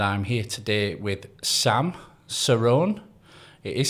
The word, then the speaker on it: Cerrone: I'm and I'm here today with Sam Cerrone. It is Sirrone, is it? It is. Yeah, you pronounced it correctly.